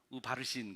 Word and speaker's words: 우바르신: 그러니까 우바라신 발음을 잘 들어보세요. 우바르신 그러면 Persian이라는 소리가 들리죠? Persian, 바르신, 우바르신.